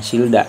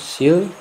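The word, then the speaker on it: 싫다: Sil, ini kan da, bukan silda, tapi dibacanya itu silta. Saya ulangi, silta, bukan silda.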